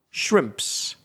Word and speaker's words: shrimps: And then to make it plural, now add the s shrimps.